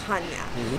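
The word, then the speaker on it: Chania: we are here in Hanya which is the city this is that's the city we're in it's spelled c-h-a-n-i-a but it's pronounced Hanya we actually don't dock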